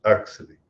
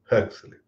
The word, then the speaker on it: Huxley: Eu pronunciei a maneira brasileira, como sempre ouvi, por sinal, Aldous Huxley. E ela observou bem que não é uma coisa nem outra. É Aldous Huxley.